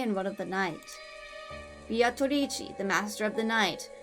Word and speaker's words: Beatrice: Surprised Amaya's been pronouncing Beatrici the right way this entire time. But with an Italian pronunciation is the right way. I'm just doing the Japanese pronunciation.